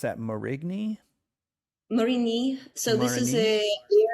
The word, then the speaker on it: Marigny: So how do you pronounce that? Marigny? Marigny.